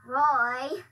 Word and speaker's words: Roy: And his name rhymes with boy. This is really hard. What could it be? What could it be? Roy, it's you.